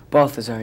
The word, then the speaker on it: Balthazar: Am I saying it right? Balthazar, yeah.